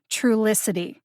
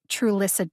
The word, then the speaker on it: Trulicity: syllable t all right so that sounds like this true licity instead of true listed t just saying i like to eat the tea on that one truelicity trulicity i think